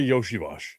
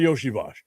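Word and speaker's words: Iosivas: I saw an article yesterday talking about Bengals wide receiver Andre Yoshivos. And yes, that's how you say it, even though it's not spelled that way. Andre Yoshiash.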